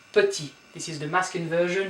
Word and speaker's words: petit: Don't pronounce the T here. Petit.